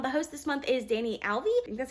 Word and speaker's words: Danyel: the diverseathon readathon the host this month is danny alvey that's how you pronounce her name i'll put her information in